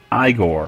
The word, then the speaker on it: Igor: asks for his assistant I Gore or Igor whatever I'm gonna just pronounce it both ways because I like duck